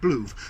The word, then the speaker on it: BLUV: But I did my research and found you pronounce it BLUV. So your name should have an umlaut.